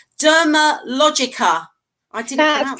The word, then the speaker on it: Dermalogica: Right, Dermalogica. I didn't That's pronounce that correct.